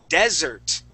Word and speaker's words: desert: Now, if we talk about desert, desert is like the Sahara. The Sahara Desert, okay, with sand.